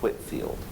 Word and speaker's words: Whitefield: partner up with George Whitfield now it's spelled Whitefield but pronounced Whitfield he's an early sort